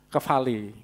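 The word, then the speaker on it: κεφαλή: Tulisannya kepale, bacanya kefale sama.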